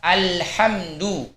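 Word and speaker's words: الْحَمْدُ: Huruf lam pada lafaz alhamdu, kita harus membacanya dengan bainiyah, yakni mengalirkan aliran suara kita setengah dari rokhawah. Alhamdu. Tidak boleh terlalu syiddah. Alhamdu. Tidak boleh juga terlalu rokhawah. Alhamdu. Tetapi pertengahannya, ya, kira-kira setengahnya aliran suara rokhawah. Alhamdu. Kemudian contoh misalnya lain seperti huruf mim.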